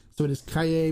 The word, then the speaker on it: Calle: Trace uh it's pronounced Cay the two L's in Spanish is pronounced as a y so it is Cay B trace or Cay 23 so she saw